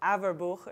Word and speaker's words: Averbuch: I think it's actually technically from German descent, so it's Averbuch or something like that if you pronounce it properly, but I've heard a lot of different pronunciations of that as well, so it's Averbuch. Yael Averbuch.